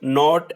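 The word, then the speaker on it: knot: Knee, knife, नॉट एंड नो। हमें पता है कि इसमें क्या कॉमन है कि इसमें जो के है वो साइलेंट है, के is silent in these words.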